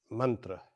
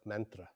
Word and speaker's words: mantra: I'll use the Sanskrit pronunciation of mantra instead of mantra, as people are generally used to.